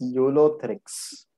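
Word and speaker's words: Ulothrix: Next pronounce कर. यूलोथ्रिक्स. Very good, it इज यूलोथ्रिक्स.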